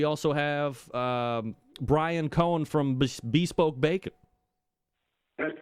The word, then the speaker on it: Bespoke: It's Bespoke, but most people pronounce it Bespoke, and either way, it's spelled the same way, so that works for us.